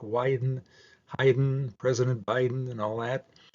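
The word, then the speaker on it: Haydn: this Friday has their coffee with heyen that's pronounced hi like wien Heiden President Biden and all that uh tickets uh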